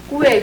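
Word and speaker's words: 贵: 참 중요한 게 뭐냐면, 이게 쌍기역에다 우웨이 이거 발음하기 쉽지 않아요. 꾸웨이. 그러니까 어떤 사람은 꾸이라고도 얘기하고 어떤 사람은 꾸웨이라고도 얘기하는데, 꾀이라고 얘기하고 있는데, 이걸로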